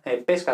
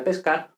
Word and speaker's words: pesca: italiano entonces vemos que es la misma palabra pero dependiendo de si la i es abierta o cerrada será pesca de pescar o pesca de melocotón entonces eso por ejemplo